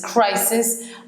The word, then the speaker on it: crises: C'est une crise, which is crisis and crisis. This is pronounced like a Z.